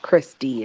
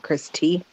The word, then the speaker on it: Christy: Isn't that is pronounced Christy, isn't it? Not Christy.